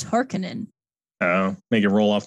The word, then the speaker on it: Harkonnen: bald um oh apparently the name pronunciation is different so in 1984 was harkonnen and in 2021 it's hearkening oh make it roll